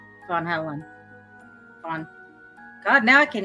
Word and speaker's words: Van Halen: no no no and it's not dan it's vaughn von helen fun god now i